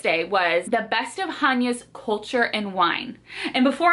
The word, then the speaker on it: Chania: I was saying Chania this whole time. It is Chania, like ha ha ha, Chania.